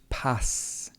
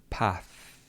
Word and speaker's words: path: So he said, which pass? It's a common mistake for people who don't have the th sound. He should be pronouncing the word path. So be careful if you don't have the th sound in your language.